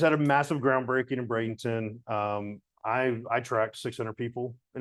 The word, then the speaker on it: Bradenton: And I found out because, and I don't know if, am I pronouncing that right, Bradenton?